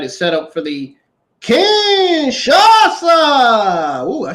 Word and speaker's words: Kinshasa: Now, the artist bulked in the face of Ludwig Kaiser at ringside is set up for the Kinshasa.